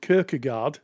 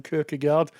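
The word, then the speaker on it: Kierkegaard: enamored with s with kirkgard if that's how you pronounce his name kard um yeah the Danish original Danish kard K good yes good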